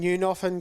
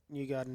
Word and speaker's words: Newgarden: And then Newnoffen got 316th for 12th. Say his name properly so we don't get done for Just wait. defamation. Yeah, so it's Newgarden in 12th.